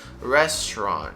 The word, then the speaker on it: restaurant: part uh to the rest of the word restaurant restaurant repeat after me restaurant now uh when